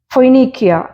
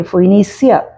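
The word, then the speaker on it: Phoenicia: മാസിഡോ എന്ന് ഇംഗ്ലീഷിൽ വായിക്കും ഫോയ്നീക്കിയ പി എച്ച് ഓ ഇ എൻ ഐ സി ഐ എ ഫോയിനീസിയ എന്ന് ഇംഗ്ലീഷിൽ വായിക്കുന്നുണ്ട് സെലൂക്കിയ എസ് ഇ എൽ യു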